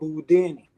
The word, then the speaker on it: Boudini: three though number three i'm called boudini rhymes with houdini he was a jew